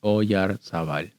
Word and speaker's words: Oyarzabal: It's a very Basque name. I can see why it's tough to pronounce. I was never able to figure out how to pronounce it. It's just Oyarzabal.